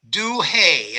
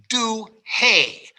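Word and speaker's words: Douhet: and the man's name is julio j-u-l-i-o julio duhey and that is spelled d o u h e t julio du hay and he is italian duhay writes a book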